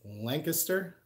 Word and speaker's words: Lancaster: Actually, I'm pronouncing that wrong. Is it Lancaster?